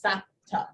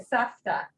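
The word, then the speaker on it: סבתא: You mean, Like my mom refers to herself as Sapta. She uses the P instead of the F. Just weird. oh, she says Sapta? Uh-huh. Huh. Well, the actual pronunciation is with a fe, Right. Safta.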